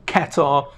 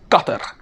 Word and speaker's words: Qatar: it's pronounced it's not Qatar or katar it's qat the actual Arabic way is a little more like gut but okay I'm just